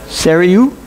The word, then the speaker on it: Sarayu: represents the Holy Spirit the pronunciation of her name I'm going to butcher so it's Sarah you something like that means wind and